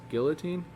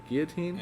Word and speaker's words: guillotine: is executed via the i think i've heard it pronounced with the l's guillotine guillotine i think there are l's in it there are l's but frenches make any sense anyway so the guillotine